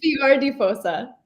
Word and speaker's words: Fior di Fossa: It's Fior di Fossa. Fior di You got Fossa. it in She the says it so end. much better You than did. me. Yeah. Well, we're talking about Fior di Fossa with these lovely ladies.